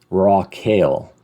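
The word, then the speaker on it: רחל: about it Rachel dies Rock Hill rockale is kind of How It's pronounced or it's it's uh that's the phonetic of it raw kale and she dies it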